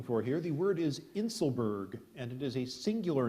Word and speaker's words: inselberg: what we're looking for here the word is inselberg and it is a singular noun an isolated